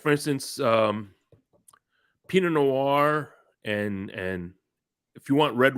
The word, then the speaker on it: Pinot Noir: How do you pronounce it? Which one? Pignot. Pinot Noir.